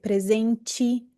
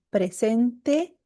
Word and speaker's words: presente: Por que que eu não posso dizer presente ou tipo? Não, la pronuncia correta presente e tipo.